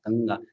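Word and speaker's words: गङ्गा: there Ang sound ganga ganga that is this one okay it is not Gaga it is ganga ganga right so that that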